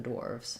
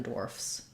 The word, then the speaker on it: dwarf: both consonant sounds if you have to say dwarf for example you might want to just build from war Wharf dwarf dwarf um to be able